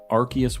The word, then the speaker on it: Arceus: think Legends verified its Arceus Arceus with a hard sea given the arc phone